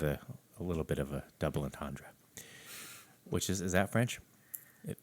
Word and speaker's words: double entendre: their songs had a little bit of a double entendre, which is that French? It Well, was a double pier. You didn't pronounce it correctly if it's South Dakotan French. double entendre.